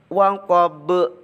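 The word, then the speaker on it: وَقَبَ: Kemudian di akhir ayat ada lafadz waqab. Itu dibaca qalqalah, harus memantul.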